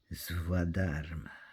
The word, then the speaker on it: Svadharma: Svadharma.